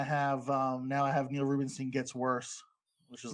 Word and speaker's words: Ruebenstein: Yeah, Tom, did you notice that he pronounced his last name Rubenstein?